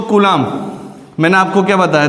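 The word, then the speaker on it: coulomb: तो कूलाम, मैंने आपको क्या बताया था, कूलाम जो सी है कूलोम, इसकी स्पेलिंग कूलोम आती, ध्यान रखना, हिंदी में कूलाम बोलते हैं इसको।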